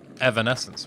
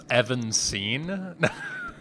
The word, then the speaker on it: Evanescence: How do you say their name? Evanescence, right? Thought it was Evanscene? No? Have you ever seen it written out? There's an extra syllable in there, my guy. Evanescence, right? That's how I've always said it. And how I've always heard it. I've definitely never heard Evanscene.